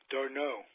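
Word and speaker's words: d'Arnaud: All these years I can't pronounce his name. Darno. Yes, Darno.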